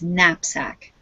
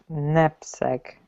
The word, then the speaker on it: knapsack: We don't pronounce the K. It's Napsack. Nap. Knapsack.